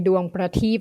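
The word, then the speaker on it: Duang Prateep: How would you pronounce it before Stephen continues? Klong Toi Duang Pratik Foundation.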